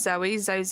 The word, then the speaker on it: Zoe: Like the name is Zoe, Zoe. What more do these people want? Yeah, I guess because Zoe is like quite a short name, but it's got 2 syllables.